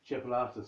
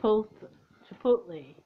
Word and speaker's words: chipotle: I'll always say it wrong, and she'll laugh at me again. Chipolata sauce. And it's not. It's chipolote or something. It's chipotle. That's it.